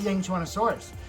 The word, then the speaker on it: Yangchuanosaurus: And yes, that is how you pronounce it. I just looked it up. So it is the Yangchuanosaurus.